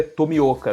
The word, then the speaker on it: Tomioka: A pronúncia correta é Tomioka, né?